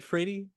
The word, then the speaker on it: Phradie: Seriously, the songs are great, and I mean, Phradie's song. It was Phradie. Is that? Am I saying it right? Phradie. Phradie's. Yeah. Yes, Phradie.